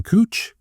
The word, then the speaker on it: Couch: It's spelled Couch, but the person pronounced their name Cooch. So it's Cooch Street. It's not Couch Street.